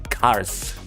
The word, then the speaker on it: Qarth: city corrected her, saying Qarth, but it's spelled Q-A-R-T-H. It's the Q at the beginning that throws you off.